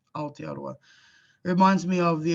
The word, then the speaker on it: Aotearoa: And the best way to pronounce Aotearoa, we run them together. Aotearoa, Aotearoa, Aotearoa.